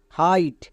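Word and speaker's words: height: তাহলে কি দাঁড়ালো এইচ আই জি এইচ টি হাইট এখানে জি এইচ এর উচ্চারণ হবে না বাট বানান লিখতে গিয়ে আমাদের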